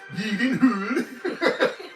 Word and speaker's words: Gyllenhaal: Played by Jake Gyllenhaal. Or if you look up when Jake was on Conan O'Brien and Conan asked him how to properly pronounce his last name, it was like Yeedenhood.